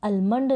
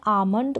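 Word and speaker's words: almond: लिए बहुत जरूरी है इस अमन को आप आलमंड ना पढ़ें तो इसके लिए जो साइलेंट लेटर रूल्स हैं उनको जान और स्पेलिंग को मिस्टेक जहां ना हो स्पेलिंग के मिस्टेक ना हो उन नियमों को भी आप जान तो इसका करेक्ट प्रनंसीएशन है अमानत मतलब की बादाम अब आगे देखें जैसे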